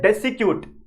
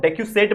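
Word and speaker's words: decussate: दूसरा तरीका है डेसिक्यूट, ठीक है, कुछ भी नाम बोल सकते हैं इसको आप, डेक्यूसेट बोल सकते हैं, कुछ लोग डेक्यूसेटी बोलते हैं, तो अलग अलग प्रोनाउंसिएशन है।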